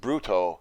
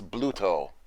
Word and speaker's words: Bluto: say arch enemy and some people by the way think it's pronounced Bruto it's actually not Bruto it's Bluto now the last one